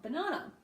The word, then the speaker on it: banana: schwa a banana and I hear people say this incorrectly all the time because they say banana banana and you can hear that there is equal stress on every syllable but in English we're going to do that we banana we go short long short or low high low so we unequally stress the syllables in the word we also do this